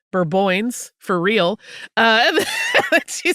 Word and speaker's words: Bourbonnais: The town of Bourbonnais, which is how it's spelled, is pronounced Bourboins, for real.